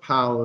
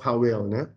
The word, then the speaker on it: Powell: มีดอน Selection นะ ครับ คำ นี้ อ่าน ว่า Pow นะ ครับ ไม่ อ่าน ว่า powell ไม่ ออก เสียง Double จริง ๆ วิธี นี้